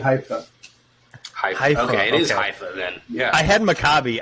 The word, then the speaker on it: Haifa: Okay, it is Haifa then. Yeah. I had Maccabi. I knew Maccabi, and I was like, I'm not sure if it's Haifa or not.